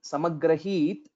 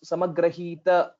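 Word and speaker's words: समग्रहीत्: One point to note in this shloka is when we say samagrahit, this is just a half takara. So most of the times what will happen is we will be unknowingly pronouncing it as samagrahita, like we will be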